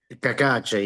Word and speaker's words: Cacace: Yeah, Kakache.